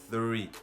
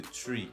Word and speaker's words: three: C'est three au lieu de tree. Je vous explique. Lorsqu'on dit tree, ça fait référence à arbre qui s'écrit T-R-E-E. T-R-E-E. C'est ça qu'on lit tree. Ça signifie arbre. Quant au tree, que vous dites, que certains disent, tree, c'est un nom qui n'existe pas en anglais.